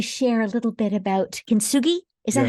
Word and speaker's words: kintsugi: I'd love you to share a little bit about kintsugi.